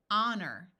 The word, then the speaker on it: honor: h LP and T in some words H is silent at the beginning EI says a so here we have the word air honor notice that o r